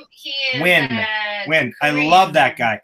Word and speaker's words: Nguyen: The spelling's not right. It's N-G-U-Y-E-N. Win.